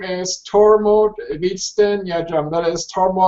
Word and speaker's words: Tormod: yourself tormod my name my birth name is torod Von yeah that is tood whiteone goat home